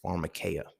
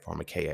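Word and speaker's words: pharmakeia: So when we look at the root word of pharmacy, pharmaceuticals, all those is pharmarmacaya, right? Pharmarmacaya. It is spelled P H A R M A K E I A I believe.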